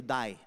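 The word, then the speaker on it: Dai: an abbreviation of david it gets turned into die alright d-a-i pronounced die all right that's a nickname they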